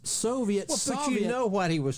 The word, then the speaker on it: Soviet: this particular say Richard can you say Soviet for me it's Soviet I mean have you ever heard it Soviet which is what a